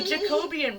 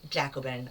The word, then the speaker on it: Jacobin: Apparently in 1793, let me alliterate, not 1993, the Jacobean faction... Jacobin, I'm sorry. I always say that.